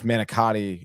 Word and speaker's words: manicotti: you know I mean I guess manicotti is the English version pronunciation of it yeah yeah and and how how is it pronounced I say monogat managot managot day yeah Tony come on